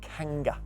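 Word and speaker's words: Kangha: Believers to wear is called the Kanger it's spelled Ka n g ha is it bangle comb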